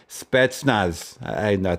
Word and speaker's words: Spetsnaz: notorious of all military special forces, the Russian Spetsnaz. That's how you pronounce it.